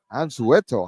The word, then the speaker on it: Anzueto: Anzueto. I like that. That's a good way to pronounce it.